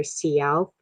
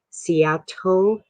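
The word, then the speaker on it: Si'ahl: of seattle is named after him the correct pronunciation of his name is either cialp or seattle with which is what we tend to interpret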